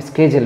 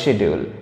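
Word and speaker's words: schedule: দা স্কেজেল বিন updated এখানে এই যে সময়সূচি অর্থে আমি স্কেজেল ব্যবহার করলাম তোমরা স্কেজুলেও বলতে পারো আবার বলতে পারো শিডিউল এটাও হয় দুটো প্রোনাউন্সিয়েশনই চলবে পরের লাইনটা দেখো সার্টিফিকেটস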